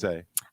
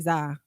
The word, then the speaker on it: Zah: Okay, I respect that, but my name is Zay, but it's just spelled Z-A-H.